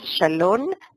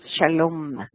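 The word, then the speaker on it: שלום: Tal como en la palabra Shalom, paz, que termina con el sonido M, Mem, como la M, y no N. ¿Sí? No es Shalom, es Shalom. Cerrar la boca cuando se pronuncia.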